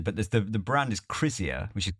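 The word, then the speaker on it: Krizia: the name of that so yeah I didn't pronounce it even remotely right I should imagine but the the brand is Cia which is k r i z i a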